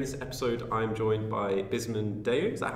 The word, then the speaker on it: Bisman Deu: Here in this episode, I'm joined by Bisman Deu. Is that how I pronounce yeah, it correctly?